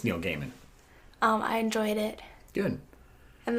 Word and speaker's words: Gaiman: I think that's how you pronounce the last name. Yeah, Neil Gaiman, yes, very famous author.